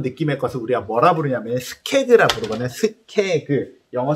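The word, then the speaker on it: skeg: 이 꽂아놓은 느낌의 것을 우리가 뭐라 부르냐면 스케그라 부르거든요. 스케그. 영어 스펠링은 S-K-E-G.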